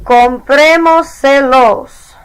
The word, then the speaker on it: comprémoselos: So, for comprarlos a él, comprémoselos. We added EMOS, dropped the S, added se, Added los, counted back 4 vowels, and put the accent on the E.